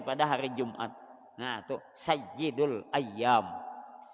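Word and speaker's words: سيد الأيام: hari Jumat nah tu Sayyidul ayyam kalau ynya kada bertasdid kada bersabdu membacanya sayidul ayam ayam kalau bertasdid ianya ayam ayam Sayyidul ayyam penghulu atau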